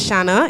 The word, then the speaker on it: Shanna: everybody my name is shanna it rhymes with banana and i love talking